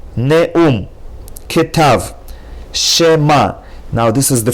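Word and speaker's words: כתב: Ketav. As opposed to ktav, you have to say ketav, using the rule that Sheva at the beginning of a word is a Shva Na.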